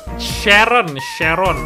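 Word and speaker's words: Charon: Bacanya Sharon, namanya Sharon.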